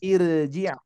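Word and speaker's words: ارْجِعْ: Hamzah wasolnya kita baca kasroh menjadi irji'.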